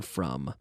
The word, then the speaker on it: from: The pronunciation of the M, you have to close your lips.